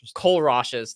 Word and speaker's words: Kohlrausch: it almost sounds like the I'm not gonna pronounce the name right. Kohlrausch's law. Kohlrausch's.